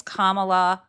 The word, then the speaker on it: Kamala: CU a lot of people have trouble it's Kamala like Kamala there you go um another one